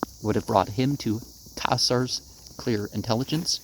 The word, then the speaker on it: Caesar: Whether a longer life would have brought him to Caesar's clear intelligence, remember you got to pronounce those C's in Latin like a K, or the subtle understanding of Napoleon is to be doubted.